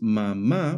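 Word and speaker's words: mamá: According to the Spanish stress rules, if a word ends in a vowel, n or s, the stress should fall on the second to last syllable. Since mama breaks that rule by stressing the last syllable instead, a is added on the last a to show this irregular stress.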